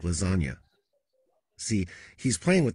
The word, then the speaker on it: lasagna: move in silence like lasagna see he's playing with the silent g spelling in lasagna at one point my